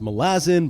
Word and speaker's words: Malazan: Now, if you hear most people talk about Malazan, yes, that's pronounced Malazan by Erikson himself.